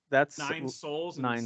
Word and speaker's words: Sols: It's called Nine Souls.